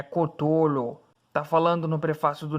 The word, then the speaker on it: Cthulhu: Catulo. Gustavo. Se pronuncia Clatulo. Ok. Desculpe. Oh, grande... Não. É Cthulhu.